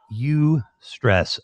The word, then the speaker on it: eustress: something to with interviews it's called you stress i think it's spelled eu i don't remember you can